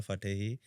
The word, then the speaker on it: Fatehi: So you have worked with Nora Fatehi, right? Did I pronounce her name right? Yes, you Fatehi.